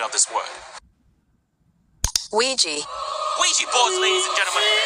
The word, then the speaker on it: Ouija: It may seem unrelated, but I've asked a data analyst expert to give us the proper pronunciation of this word. Ouija.